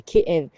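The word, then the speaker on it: כאב: La douleur en hébreu, c'est kéev. Kéev, ça s'écrit kaf alef bet, c'est ké av, comme un père.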